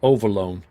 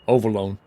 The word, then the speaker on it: Overloon: Pronounced Overloon. Okay, Overloon.